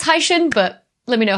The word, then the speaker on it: Hycean: sure how to pronounce I'm pronouncing it like high from hydrogen and shin from Ocean so hyphen but like as it's written in English you would probably pronounce it as like hycian pretty sure it's Hai Shin but let me know